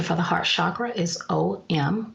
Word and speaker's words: Om: the heart chakra is om pronounced um and during meditation it's drawn out like this or again you can